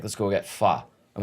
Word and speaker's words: pho: He's like, "Let's go get pho." I'm like, "Isn't it pho?" He goes, "No, it's pho, man.